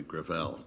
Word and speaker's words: Gravel: Senator Gravel. With all due respect, let me correct, I pronounce it within my family, Gravel. Gravel? It's a French name.